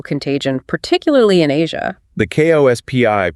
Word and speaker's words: KOSPI: The KOSPI pronounced Kospi-triggered circuit breakers today.